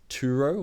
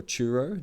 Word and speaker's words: Turo: This is Turo or Churro, depending on where you're from and how you want to pronounce that T.